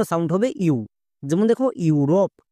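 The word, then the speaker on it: Europe: হবে ইউ যেমন দেখো ইউরোপ এই ওয়ার্ডটিতে দেখো একদম শুরুতে vowel blending word E ইউ আছে তার মানে এর জন্য ইউ সাউন্ড করবো যেমন ই ইউ আর ও পি ই রপ ইউরোপ বোঝা গেল ই ইউ আর ও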